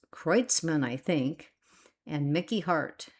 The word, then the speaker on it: Kreutzmann: do not ever say this name right, Kreutzmann, pronounced Kreutzmann, I think, and Mickey Hart, and the vibrant bluesy textures of keyboardist Brent Midland.